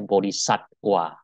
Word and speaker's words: Bodhisattva: Sekedar untuk mengingatkan, perkuliahan minggu yang lalu, setiap V itu dibaca W ya. Jadi tulisannya Vinaya, bacanya Winaya. Tulisannya seperti Vihara, yang benar bacanya Wihara. Bodhisattva tulisannya, bacanya Bodhisatwa.